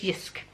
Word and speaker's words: JYSK: that I've discovered is it's pronounced I think usque which is JYSK but I am reliably informed that it's that it hisk I bought this concrete like parties got a